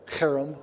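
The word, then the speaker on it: herem: in canaan it's called kharam warfare it's spelled with just an h there but it's a a hard age harem kara means something utterly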